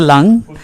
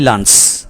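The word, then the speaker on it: lung: লাং হ্যাঁ ফুসফুস মানে লাংস ফুসফুসটাই ফেসকা আসলে হ্যাঁ এটাকে ইংলিশে বলা হয় লাং আমরা ভুলে বলি লাঞ্চ লাঞ্চে পানি জমছে বলি আমরা আসলে হবে লাং এ পানি জমছে আই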